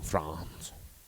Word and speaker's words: Frantz: I pronounce it like the country France only because I want to have a bunch of daughters Mathew and Franz? name them all after towns in France.